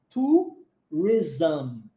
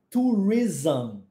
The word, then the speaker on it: tourism: Quando você vê esse ISM no final, o som vai ser ism. Ism. Com esse som de Z mesmo, tá?